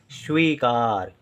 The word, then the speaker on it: स्वीकार: जिम्मेदारी स्वीकार श्वी शी अब यहां पर आप ध्यान दें शी यानी स का उच्चारण तो है लेकिन बहुत कम समय के लिए क्योंकि जैसे ही स का उच्चारण होता है तुरंत व का उच्चारण होता है वी है तो शी स